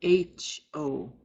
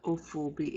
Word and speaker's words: hofobi: Hofobi is spelled H-O-F-O-B-I. Hofobi. The word is not ophobi, it should be hofobi with an H, beginning with an H.